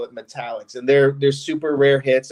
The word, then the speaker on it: metallics: But there's an insert called Metallics, and it's spelled metal-X, and everyone, even in-house at Upper Deck, calls them Metal X cards. And I'm like, no, they're metallics.